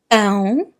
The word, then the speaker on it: pão: Okay, so be careful when you pronounce bread, pão, the nasal sound.